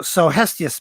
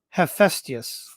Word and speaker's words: Hephaestus: So Hestius made that. No, not Hestius. How do you pronounce that? Hephaestus.